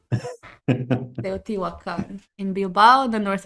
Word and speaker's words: Teotihuacan: How is the pronunciation, Vero? Teotihuacan.